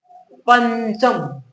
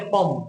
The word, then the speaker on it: पंचम: पंचम, देखिए बोलिए कैसे? पंचम, ठीक है? ये नहीं करेगा पम, पम नहीं होता, पंच नहीं होता, पन भी नहीं होता, क्या होता है? पंचम, ऐसे उच्चारण करके देखिए।